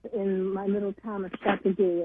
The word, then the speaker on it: Châteauguay: And when I was growing up in my little town of Châteauguay, it's actually pronounced Châteauguay, we used to have these fields that I would look out onto.